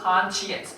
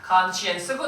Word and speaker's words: conscience: 스펠링은 science랑 똑같은데 발음은 science 한다 그랬죠. conscience. 혹시 양심적인, 성실한 요건 뭔지 기억나니? conscientious였어요. conscience고 뒤에 t-i-o-u-s 또 쓰면 conscientious.